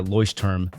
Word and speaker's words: Leuchtturm: journal to get I suggest you get the ly term 1917 I I didn't know how to pronounce this company in the last video but